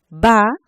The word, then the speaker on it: baúl: Dice, baúl. A es vocal abierta y U, vocal cerrada, está acentuada. Por lo tanto, se divide y son dos sílabas distintas, encontramos un hiato.